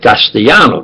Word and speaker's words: Castellano: Spanish, they're Castellano, but they pronounce it Castellano. The L is like J. Like there's an A, J is like H. Joe is Jose. The J is A. The L is like a J, Castellano.